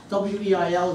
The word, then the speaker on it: Weil: W-E-I-L is pronounced Weil because she was on the French-German border, but she took the French pronunciation.